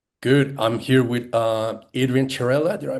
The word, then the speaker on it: Chiarella: I'm here with Adrian Chirella. Did I pronounce it well? Chirella, yeah, or Chirelli.